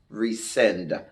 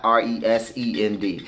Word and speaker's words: rescind: So, and for some of you all that are, you know, on the lower spectrum of intelligence, that's rescind. RESCIND. Rescind. Not RESEND. Because you got to spell it out for some of these people.